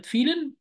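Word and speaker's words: vielen: أقف هنا شوية عند كلمة فيلن، عند حرف الفاو، ده اسمه حرف الفاو في اللغة الألمانية. حرف الفاو في النطق بيتنطق زي حرف الإف تماما، يبقى وإحنا اتفقنا من شوية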